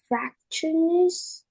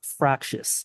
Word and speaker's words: fractious: boys is often to to used to describe factionist males teens who act out in public yep great reading Sophia thank you uh just to clarify the word is pronounced fractious if you're having trouble pronouncing the word refer